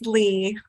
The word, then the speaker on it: Leah: Leah so Leah or how do you pronounce your name please it's Lee Lee thank you for telling